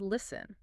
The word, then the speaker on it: listen: Look at the spelling of the word listen. There's a letter T right in the middle.